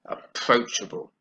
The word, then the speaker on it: approachable: is on the second-year approachable as she's four syllables here and it's on the second approachable three it was far